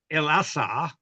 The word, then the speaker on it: Osiris: of the ritual of Osiris and Isis, and John takes up the name of Isis, which is Mary, M-E-R-I, and Osiris is El-Assar, another way of pronouncing it, and they turned that into Lazarus and Mary.